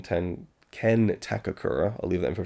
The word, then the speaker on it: Takakura: portrayal by and and Mike Le pronounces Ken takakura his name as Ken takura and I don't I just did I did I did I miss a k there somewhere so I don't